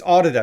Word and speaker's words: Audida: It's Audida. It's not Udada. It's Audida. It's like audio dada.